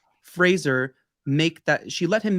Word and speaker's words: Fraser: it's really she let Frazier make or Fraser sorry I gotta say his name correctly Fraser make that she let